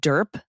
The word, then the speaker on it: DERP: Now they're calling it DERP, the Deferred Employee Resignation Program. Rhymes with burp.